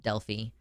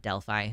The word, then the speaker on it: Delphi: And I learned that it's pronounced Delphi and not Delphi, which is what I thought for a long time.